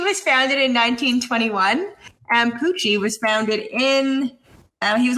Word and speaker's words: Pucci: How about Pucci? No. Is that a dog? No. Emilio Pucci. It's definitely not. It's spelled like Gucci, but with a P.